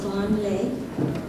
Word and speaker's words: Van Lê: Actually, my name is V-A-N-L-E, but it's pronounced Van Lê.